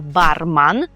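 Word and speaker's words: barman: Ну і власне від слова бар у нас походить професія барман. Барман. Зверніть увагу, що ми маємо ман, а не мен, як в українській барман, а она то барманка.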